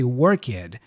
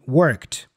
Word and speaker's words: worked: the past with Ed so instead of worked uh Learners go Orchid or play it instead of played but